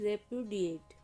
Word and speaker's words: repudiate: इसका प्रोनंसिएशन है रेपुडिएट।